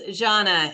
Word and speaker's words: Janna: think it was that I hope I'm pronouncing your name right it's Janna and it's yeah it's